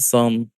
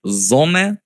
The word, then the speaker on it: Sonne: the name Zone Finance it's pronounced Zone but you can call it song or sun it doesn't matter however you like it